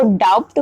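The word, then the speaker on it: doubt: क्या सीखा था कि बिफोर टी जब भी टी के पहले बी अगर आएगा दैट टाइम पर भी बी साइलेंट हो जाएगा जैसे कि डी ओ यू बी टी इसको डाउट प्रोनंसिएशन हो गया सो जब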